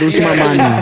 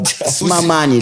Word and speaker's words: Usman Mani: He said it right. Usman Mani. Usman Man. You guys Oh my God. Usman Mani. That's how they pronounce it.